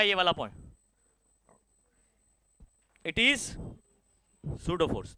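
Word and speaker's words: pseudo: वाला point it इज सूडो force तो यहां पर इधर लिख देता हूं चलो इट इज सूटो का स्पेलिंग क्या है हां पसो प यहां पर साइलेंट होता है तो सूडो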